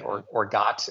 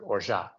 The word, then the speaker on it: orgeat: or orgeat, which is people say orgat or orgeat. It's the orgeat. I said it wrong forever, and I probably still am saying it wrong. It's French. It's like orgeat.